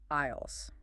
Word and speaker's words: aisles: Number two, aisles. The rose in the store. Remember that silent s.